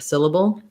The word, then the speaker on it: syllable: So syllable, 3 syllables. First syllable stress, the I vowel, bull. Okay, so same thing. I can see the relationship here. We also have a syllabic L here, kind of like we have the syllabic N in patent. In syllable, there's basically no vowel between that B and that L.